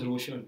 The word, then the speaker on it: Raushan: Okay, Raushan is supposed to be pronounced as Ra. Ra. Yeah, so that's A-U. Yeah, it's not Ro, it's Ra. It's R-O becomes Raushan.